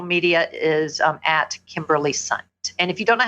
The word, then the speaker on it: Sundt: is um at Kimberly sunt and if you don't know how to spell that thing think of a bunt cake with an S so s n d